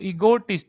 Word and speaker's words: ईगोटिस्ट: ईगो ई गो टिस्ट, टिस्ट क्या पे बोलना है, TIST टिस्ट, तो ईगोटिस्ट, तो आप बोलोगे ईगोटिस्ट।